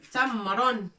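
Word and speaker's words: تمر: Ta avec noqtatain. Fatha. Mim avec soukoun pour dire m. Tamron.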